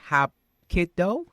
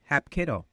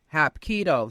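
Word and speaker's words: Hapkido: Hop kiddo. Hap kiddo. Hop kido. Hap kiddo.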